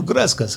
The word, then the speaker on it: Gresa: missed opportunity come to gresas have a fresa exactly it's very nice refreshing what is this fresa you speak of it's a really refreshing Citrus soda rhymes with your name just thought it might